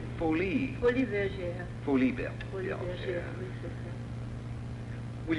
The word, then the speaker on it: Folies Bergère: Folie Bergère.